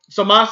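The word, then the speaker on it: Zamasu: You shouldn't be saying Samasu. His name is Samas. It's kind of like the Ikimas thing. Ikimas, I think it means ready. It's there's a U there, but you don't say Ikimasu. You just say Ikimas. You don't add the U at the end.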